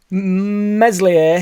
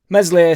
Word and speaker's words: Meslier: you much appreciated boys meslier silent s uh which people are now in the comments telling me that I need to start pronouncing his name correctly which I disagree with I'm not going to if some comes up it must come out if a changing for no man the boom stays Mesley silent s was apparently